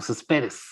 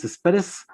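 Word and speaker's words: Céspedes: I know that in English is said Cespedes or Cespedes. So how should I pronounce it? Dennis Cespedes.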